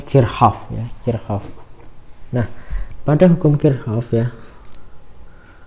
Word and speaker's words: Kirchhoff: Hukum Kirchoff dari pengorbanannya Hai tulisannya Kirchoff Tapi bacanya verhoeven kircoff nah pada hukum Kirchoff ya Hai gimana Hukum